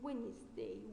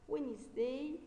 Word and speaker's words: Wednesday: Sunday, Monday, Tuesday, Wednesday. Wednesday is silent. Wednesday, Thursday, Friday, and Saturday.